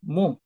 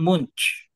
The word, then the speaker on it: Munch: ano Edward munk yung Edward munk parang munch munch munch munk Oo muk ang pron pronunciation siya yung gumawa ng